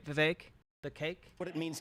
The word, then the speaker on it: Vivek: I wonder who's responsible for the wages remaining stagnant, Vivek. Rhymes with cake.